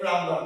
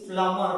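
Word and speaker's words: plumber: For example प्लम्बर, वी in general call it प्लम्बर, but that is नॉट the correct pronunciation. The correct pronunciation is प्लम्बर where b is silent, right?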